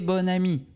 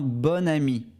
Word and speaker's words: bon: commence par une voyelle on prononcera bon comme bonne d'accord un bon ami parfait nous allons voir